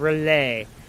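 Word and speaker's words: R'lyeh: he is in his city of relay which i've took me forever to figure out that's how you freaking pronounce that yeah i heard it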